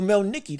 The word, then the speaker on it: Melikuziev: Oh, Melikuziev, that's how you say his name.